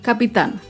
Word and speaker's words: capitán: Acá vemos otro ejemplo con la palabra capitán. Capitán es una palabra aguda. Se acentúa en la última sílaba y lleva tilde porque termina en la consonante N.